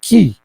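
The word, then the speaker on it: כִּי: When you put a Chaf with a little dot underneath it, is pronounced Ki.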